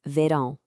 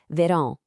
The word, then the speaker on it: verão: And the word for summer in Portuguese is verão. Hear that sound at the end, verão. It's kind of nasal, right? That's all thanks to that little squiggle over the A.